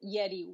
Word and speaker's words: Yeri: yeti in short and they spell it yeti y-e-r-i yeti like it sounds in spanish well this this counselor